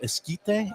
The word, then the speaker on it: Esquite: Okay, I cannot eat the corn, but this is called the Farmhouse Barbecue Esquite. Is that, Esquite. am I pronouncing Esquite, it right?